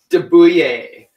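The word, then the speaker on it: de Buyer: of your steel pans Daboo yay I think that's how it'd be pronounced D you yet de be you ye are it's a French steel pan and there's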